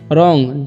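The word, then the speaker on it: wrong: है जैसे देख लीजिए रोंग व आर ओ एन जी रोंग मेंस क्या होता है गलत होता है यहां पर व का उच्चारण नहीं हो रहा है उसी तरह से नो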